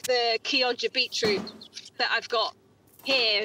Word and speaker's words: Chioggia: She said Kioja. Right. So I think it's often pronounced Chioggia.